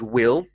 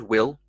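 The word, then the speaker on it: we'll: a sentence quite quickly we will is will and again more of an i sound will when said quite quickly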